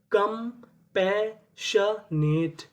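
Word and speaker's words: compassionate: इे लिख दिया ट क्योंकि आखिरी में हमें इ का उच्चारण नहीं करना। तो पूरी मीनिंग कंपैशनेट।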